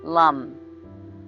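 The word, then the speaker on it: Lam: with the Earth element as is the Mantra Lum spelled in English LM but pronounced Lum so either receive my chanting now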